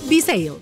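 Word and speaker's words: Bsale: Bisale se escribe B-S-A-L-E. Bisale.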